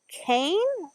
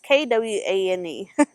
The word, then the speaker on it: Kwane: I think it's Kane or Kawan. One of the other ways. It's Kwane.